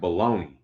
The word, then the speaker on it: bologna: that are silent like baloney like why is bologna spelled with two o's and a g buh b a low knee right this is how baloney